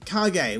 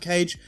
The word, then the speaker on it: Kage: it lao wolf jeffrey kage which is how i'm told it's pronounced not cage sarah jackie shun line